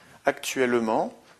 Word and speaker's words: actuellement: Deuxième exemple, actuellement, notre effectif est de 128 personnes. Encore une fois, on a une prononciation en aimant, donc la terminaison de cet adverbe ne prend qu'un seul M, E-M-E-N-T.